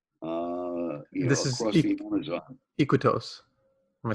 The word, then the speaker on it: Iquitos: Iquitos. Am I saying it right? Iquitos, but we go a couple of 100 kilometers